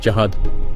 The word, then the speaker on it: Zahard: Oh, and concerning the writing of his name, its true spelling is Zahad, even if it is pronounced Jahad.